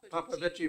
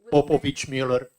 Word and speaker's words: Popovich Mueller: Papavici Muller. Popovich. I Papavici. checked with him. It's, I checked with the. Popovich Mueller. Okay. Popovich Mueller. It doesn't, you don't make the I noise.